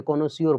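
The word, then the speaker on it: connoisseur: बहन कर देते हैं प्रोनंसिएशन में कोनाज नहीं पढ़ते कोनो सियोर पढ़ते हैं तब याद रहता है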